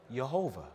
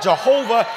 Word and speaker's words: Jehovah: the name tetragrammatown yhwh took the vowels a o and a and inserted them into Yahweh so why a h o w a h sound it out Jehovah yahuwah you know what